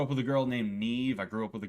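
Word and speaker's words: Niamh: I know how to say this one because I actually grew up with a girl named Neve. Um I know it's I know I know it's not Neem or anything like that, you know.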